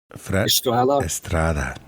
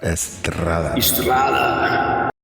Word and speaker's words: Estrada: Estrada. No, you gotta roll that R, man. Estrada.